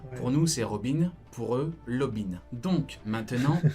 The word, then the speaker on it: Robin: Non, ils disent pas Lobin, ils disent Robin avec un L roulé, comme les Espagnols.